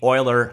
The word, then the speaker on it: Euler: got polar coordinates then we get into 3d euler ha finally said it right you people angles